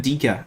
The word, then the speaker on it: Ndicka: it is evan and dicka or evan and dica as i've learned it's pronounced this is a very interesting one for